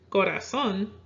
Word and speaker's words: corazón: However, corazón, meaning heart, does not follow the natural stress rule and it's stressed on the final syllable, so it will have a written accent.